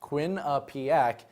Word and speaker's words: Quinnipiac: tournament Quinnipiac the other basketball school in Connecticut pronounced Quinnipiac became the fourth team joining BYU San Francisco